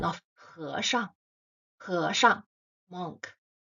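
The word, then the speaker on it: 和尚: The pronunciation of He Shang, He Shang, monk. First character with the second tone, He, He. The second character with the neutral tone, tone 5, Shang, Shang.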